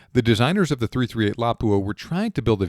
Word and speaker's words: Lapua: Now, for a long time, I referred to this cartridge as the 338 Lapua. However, I think it's actually pronounced 338 Lapua.